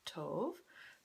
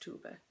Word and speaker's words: Tove: and in Swedish uh sometimes the O makes an o sound and sometimes it makes an oo sound and you just have to kind of know when and so it's pronounced tuba TUV Janson and um